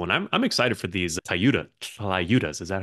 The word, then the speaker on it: tlayudas: And I'm excited for these tlayudas. Is that how you say it? Well, yeah, it's a TL sound. Yeah, tlayuda. Am I butchering it? the know, L silent?